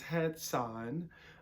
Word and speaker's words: Hatsan: That's not what caliber we're talking about today, but we are talking about this Hatsan.